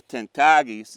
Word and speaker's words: Tankitakes: And then over here you have the Tankitakes, and note my pronunciation. This is, by the way, this doesn't always happen, but the pronunciation Tankitakes comes from the last of the Tankitakes whom I knew and who passed away 20 years ago.